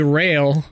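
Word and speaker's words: Raël: can't pronounce his name aka aka rail but it's spelled r-a-e-l not not not like really girl thousands of years ago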